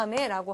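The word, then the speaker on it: あめ: 자, 일본어로 비라고 하는 비, 우리 하늘에서 내리는 비에 해당되는 그러한 단어인데, 자, 발음을 조심을 해야 돼요. 왜냐하면 제가 지금 읽을 때 아메라고 읽었는데요. 이 표현이 예를 들어서 아메라고 해서 뒤에 액센트가 갈 경우에는 자, 하늘에서 내리는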